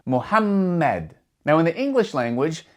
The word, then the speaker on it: Muhammad: And because there are two M's, you're going to pronounce that M with a bit more strength. You're going to stress that M sound, Muhammad.